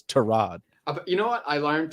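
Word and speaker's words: Tyrod: the other one uh it's torad it's not Ty Rod it's to Rod you know what I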